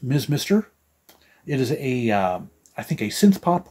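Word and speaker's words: Mr. Mister: I believe they are pronounced Ms. Mister.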